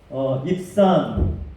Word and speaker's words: 입산: 입산, 히브리 말로는 입잔이라는 발음에 더 가깝습니다.